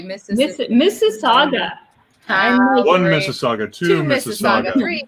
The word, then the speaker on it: Mississauga: written it would be it's just like mississippi but at the end wait no no see